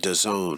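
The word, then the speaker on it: DAZN: like like boxing and like soccer overseas uh pronounced the zone has been described as the netflix of sports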